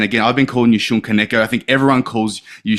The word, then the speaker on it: Shun Kaneko: your name, because again, I heard you on a podcast the other day, and again, I've been calling you Shun Kaneko.